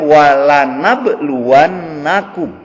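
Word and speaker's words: وَلَنَبْلُوَنَّكُمْ: Wala nabluwannakum, dan sungguh, ya, sebetulnya asal katanya nablu, bala, nablu, kami, tapi diawali dengan la tuh. Jadi bacanya wala nabluwannakum.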